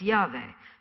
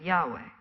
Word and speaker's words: Yahweh: When sounded out, it's Yahweh. Some people pronounce it Yahweh.